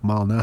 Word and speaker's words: Malnati: It's a guy's name, Lou Malnati. and then Lou, and then Malnati, Malnatis. Okay, yeah. Well, it sounds like Illuminati, though.